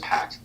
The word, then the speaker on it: Park: Wait, how do you say park in Korean accent? It's just pack.